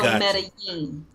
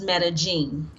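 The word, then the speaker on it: Medellín: So, when you're in Latin America or Central America, the two L's are pronounced as a Y. So Medellin.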